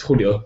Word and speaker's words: Julio: Um, yeah, it's a Spanish name, so bit awkward to pronounce it. It's Julio.